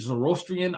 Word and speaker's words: Zoroastrian: Sometimes, I pronounce it Zoroastrian. I see sometimes people put that emphasis on that O, right? They kind of make an extra syllable.